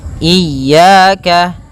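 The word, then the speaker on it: إياك: Kesalahan yang kedua yaitu tidak ee atau memanjangkan huruf iya. Ah, seperti itu. Maka yang pertama tidak mentasydidkannya. Yang kedua memanjangkannya. Kemudian pada lafal ya ada mad thabi'i berupa fathah bertemu alif maka dua harakat.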